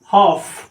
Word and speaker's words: half: HALF, इस word को हम पढ़ते हैं हॉफ, यहाँ पर भी एल साइलेंट है, ठीक है।